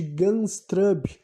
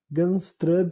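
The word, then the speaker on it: Gundestrup: Celta digamos assim um É o caldeirão de ganshrub né em inglês vocês vão encontrar mais coisas né Eu vou soletrar se escreve g u n d e s t r u p games trub e daí khaldromo de caldeirão vocês vão ver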